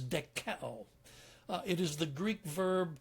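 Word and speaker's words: δοκέω: Another idea comes from a Greek verb that is pronounced as dekeo.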